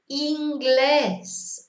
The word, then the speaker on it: inglés: So in English this is an I, but of course in Spanish it's an E. Inglés, always E sound, never any different. So we have to remember that I is E in Spanish.